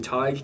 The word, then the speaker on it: Tadhg: That's where my name Tig comes from. It trips up a lot of people. It's not spelt how it sounds. It's spelled Tadhg, and it means poet or philosopher in Irish.